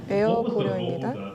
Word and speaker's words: Air Koryo: 제가 제대로 발음을 하기를 바랍니다. 에어 고려입니다.